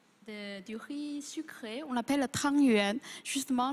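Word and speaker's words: 汤圆: Chez nous, voilà, les plus courants, c'est la boulette du riz sucré, on l'appelle tang yuan. Justement, la prononciation rapproche de tuan yuan.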